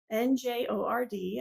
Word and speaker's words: Njord: So this color is called the Njord Hand, Njord. I'm assuming that's how you pronounce it, Njord, because that's how you pronounce fjord, which is the same spelling except with an F.